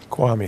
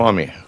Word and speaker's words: Kwame: How do you pronounce it? Kwame is how you say it. Kwame.